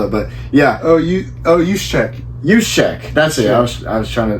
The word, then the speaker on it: Juszczyk: If you want to spell it, but yeah. Juszczyk. Juszczyk.